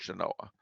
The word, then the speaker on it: Genoa: territorial Capital Genoa spelled like Genoa but it's pronounced Genoa uh Carson City is the capital Reno the